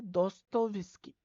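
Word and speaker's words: Dostoevsky: जैसे बहुत सारे ऐसे है उनको भी मतलब प्रोनाउंस करने में दिक्त होती होगी आप लोग पता है मुझे यह जो राइटर है दोस्तो विस्की दोस्तो विस्की देखो दोस्तों ई विस्की ठीक है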